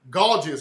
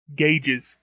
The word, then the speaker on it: gauges: Gorgeous, right? Gauges. The word is pronounced gauges, you nitwit.